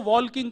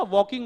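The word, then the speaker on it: walking: बोले बाहर चलो वॉल्किंग करेंगे। मैंने कहा भैया वॉल्किंग नहीं होता वॉकिंग होता है। साइलेंट होता है।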